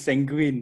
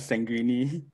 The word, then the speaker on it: sanguine: By the way, it's sanguine, not sanguine.